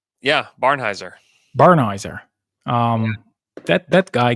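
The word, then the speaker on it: Barnhizer: Um, but alas, we won't see it, but we will get to see Topic and Bernheiser or what's the pronunciation? Yeah, Barnheiser.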